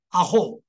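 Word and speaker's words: 阿呆: 阿后。啊后，后不是长音吗？o 段音加 u 就变成长音，所以念成啊后。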